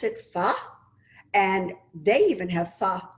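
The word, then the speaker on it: phở: that i adore it looks like the word fo but they pronounce it pha and they even have pha for breakfast so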